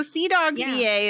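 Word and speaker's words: CDawgVA: dies but i no so c dog va is actually spelled with a c d a w g v a so it's like c dog right v a uh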